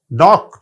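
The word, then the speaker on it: knock: तो जी साइलेंट है नॉक ठोकर लगाना के साइलेंट है वक एल साइलेंट है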